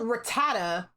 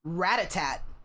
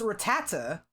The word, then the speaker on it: Rattata: So they called Rattata Ratat. So I was just calling that fool Ratat the whole time. I was like, there's no tea at the end, but you know, who